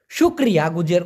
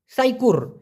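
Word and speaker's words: syukur: বলা হয় সারাত সারাত শুকরিয়া গুজার করা যে আলহামদুলিল্লাহ শুকরিয়া ওরা বলে সাইকুর এস ওয়াই কে ইউ আর তো এটা মূলত শুকুরও বলা যেতে পারে সাইকুরও বলা যেতে পারে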